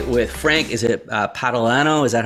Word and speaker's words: Patalano: i'm joined today with frank is it uh patalano is that how you pronounce this yes all right phonetics phonics for